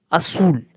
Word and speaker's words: azul: Azul. Z को हम C की तरह प्रोनाउंस करेंगे azul.